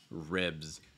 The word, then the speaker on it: ribs: so it's not re it's red short eye for instance like sit or give um also that bs sound i notice it's going to be voiced it's like biz ribs ribs all right just give